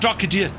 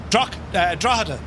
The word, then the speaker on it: Drogheda: Drogheda. Not Drogheda. Drogheda.